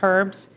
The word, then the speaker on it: herbs: And I also have chopped herbs. Herbs. We do not pronounce the word herbs.